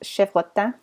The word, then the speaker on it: chevrotain: As well as chevrotain, which the word chevrotain is French, would be pronounced chevrotin, but it means like a little goat.